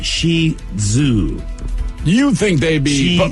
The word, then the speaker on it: Shih Tzu: the Shih Tzu how do you say that Shih Tzu it's Shi Zoo you think they'd be but more emphasize the